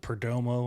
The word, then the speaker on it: Perdomo: you uh turning me on to was it Perdomo am I saying it right almost cigars yup